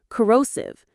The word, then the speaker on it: corrosive: Corrosive. Crosive. Corrosive. The stress is in the middle syllable. Row. Corrosive.